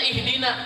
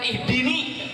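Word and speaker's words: ihdinā: Tapi dalam Fatihah kita enggak, tetap bacanya ihdina, bukan ihdini. Tapi ihdinas siratal mustaqim.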